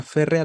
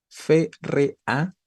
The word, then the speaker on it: férrea: Y por lo tanto, férrea tiene tres sílabas. La palabra férrea es esdrújula, ¿no? Y como palabra esdrújula, debería llevar tilde.